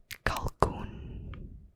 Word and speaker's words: kalkoen: This is a turkey, and it's pronounced kalkoen.